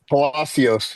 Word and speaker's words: Palacios: Joe, how do you say Palasios? It's like with a C.